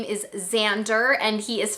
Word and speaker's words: Xander: And I have a son whose name is Xander and he is 5. Now I should say Xander is spelled with an X, and I say that